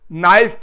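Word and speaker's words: knife: हां बेटा नाइफ की स्पेलिंग बताओ। आपने कहा एन है एन नहीं। पहले के बोलो। क्यों? नाइफ तो बोलते हैं हम। फिर के क्यों लिखें? इस लैंग्वेज का कायदा है।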